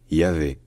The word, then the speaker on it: Yahvé: En hébreu moderne, c'est devenu Yahvé, Yahvé. Et c'est également comme ça qu'on le dit en français, Yahvé.